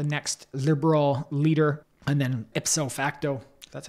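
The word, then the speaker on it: ipso facto: to be the next liberal leader and then ipof facto that's how you say it prime minister of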